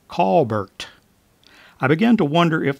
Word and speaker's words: Colbert: and quickly learned that he had grown up pronouncing his last name as Kolbert which sounded a lot like call Burt I began to wonder